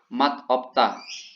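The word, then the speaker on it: 맛없다: Tapi kalau untuk tidak enak ini cara bacanya yang dipakai sehari-hari bahasanya itu mat opta ya.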